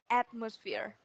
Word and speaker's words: atmosphere: So this is atmosphere. Atmosphere. Atmosphere. Yes, atmosphere. Mọi người chú giúp em là cái âm giữa này nó sẽ là âm ơ. Nó sẽ không phải là âm o.